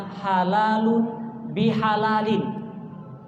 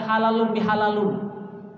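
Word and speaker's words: halalan bihalalin: Dalam bahasa Arab, Ibu, itu artinya halalun bihalalin. Ibu Aisyah, Ibu ya, halalun bihalalin. Bukan bacanya halalun bihalalun. Itu berarti nggak ngerti Arab.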